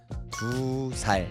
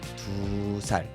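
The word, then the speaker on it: 두 살: l'heure de c'est tou mais pour dire 2 ans, on va raccourcir un petit peu. On va dire tout sal tout sal et c'est un petit peu la même chose pour 3 ans.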